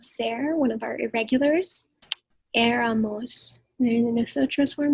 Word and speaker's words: éramos: So we would use the form of ser, one of our irregulars, éramos. And in the nosotros form here, so you want éramos, the accent on the E.